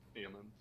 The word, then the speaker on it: Aemond: And how do you pronounce? Is it Aemund? Yeah, Aemond.